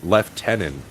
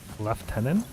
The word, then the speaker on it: lieutenant: the English accent is they'll uh left tenant you ever hear that leftenan yeah instead of Lieutenant